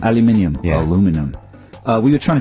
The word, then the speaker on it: aluminium: Well, that's how the Americans say it, isn't aluminum it? Instead of aluminium.